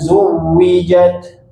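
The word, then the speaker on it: زُوِّجَتْ: Kemudian waidan nufusu zuwijat waidzan nufusu waidan nufusu. Nah, nufusu. Nufusu. Cara bacanya hati-hati didamahkan. Nufusu. Nufusu. Zujwijat. Zuwijat. zuwijat zuwijat waidzan nufusu zuwijat waidzan nufusu zuijat zu bukan ju tapi zuwijat zu waidzan nufusu zuwijat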